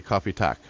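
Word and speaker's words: kaffe: So coffee is pronounced the same. It's still coffee, but we spell it different.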